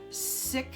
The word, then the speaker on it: Sikh: years distancing herself from the traditional SiC and it's spelled sik H community of her childhood